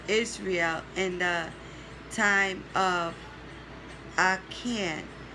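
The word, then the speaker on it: Achan: after him for israel in the time of arcane it's spelled a-c-h-a-n and samuel and david for the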